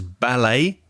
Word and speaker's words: ballet: a similar way as ballet b-a-l-e-t and we don't pronounce the t because it's french so sachet and you